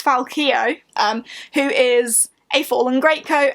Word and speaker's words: Falcio: And these books follow Falcio, who in this book we discover it's pronounced Falcio. I, along with all of the characters in the book, have been getting that wrong. It's Falcio, who is a fallen greatcoat, and his buddies who are also fallen greatcoats.